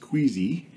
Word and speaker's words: KWZ: inks of Australia and kwz pronounced queasy standard and iron gall